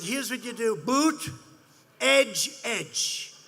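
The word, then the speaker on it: Buttigieg: here's what you do boot edge edge say edge like the edge of a building edge edge who that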